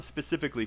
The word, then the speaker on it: specifically: And where's the stress? C. Yep, the second syllable.